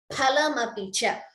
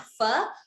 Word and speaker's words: फलमपि च: Phalamapicha. I told you pha. Please note the pronunciation. It is not fa, it is pha.